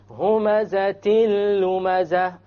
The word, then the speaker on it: هُمَزَةٍ لُمَزَةٍ: We have a tanween on the ta. هُمَزَةٍ لُمَزَةٍ. You didn't hear the end sound, it was dropped.